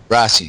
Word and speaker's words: Rossi: For our listeners, so, it's pronounced Rossi, right? Rossi? Rossi, see. Okay.